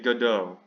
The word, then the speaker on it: Godot: The play is in French, so it's apparently supposed to be Godot.